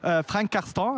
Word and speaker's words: Frank Karsten: Now, I am here with Frank Karsten, Frank Caston, as you pronounce it here.